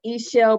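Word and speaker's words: Ixchel: my business page for my course is called e-shell birthing that's spelled i x c h e l and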